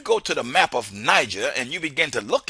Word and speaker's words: Niger: So instead of admitting that, okay, I mispronounced the word Niger, they just added another G, making Niger into nigger so they could keep their pronunciation. Now let me show you this one more time because I want you to understand where I'm coming from. Look at Niger. The word is still Niger, even though it got another G.